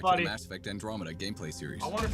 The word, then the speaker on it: Andromeda: Andromeda, that's how you pronounce it.